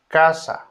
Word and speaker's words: casa: Letter C is pronounced as a K in casa.